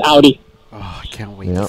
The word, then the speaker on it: Audi: I used to say it the opposite way until I actually started working for the company, but that's the way the owner presents it, and that's the way it's pronounced. So it's Audi.